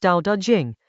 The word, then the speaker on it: Dao De Jing: This is chapter 21 of the Dao De Jing, pronounced Dao De Jing, a text attributed to Laozi, written in China roughly 25 centuries ago.